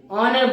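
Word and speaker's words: honour: और इसे एन ऑनर, एन ऑनर, हम लोग हॉनर नहीं बोलते, ऑनर बोलते हैं, इसीलिए क्या लगाएंगे, एन लगाएंगे, एन।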